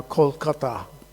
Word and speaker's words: Kolkata: This is north of Calcutta, which is now Kolkata, which is just the Bengali pronunciation.